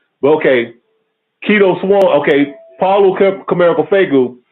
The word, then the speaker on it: Quito: His name is Keto Swan. Koku, you ever heard of him, Keto Swan? No. Okay, his name is Keto Swan. Keto is spelled Quito.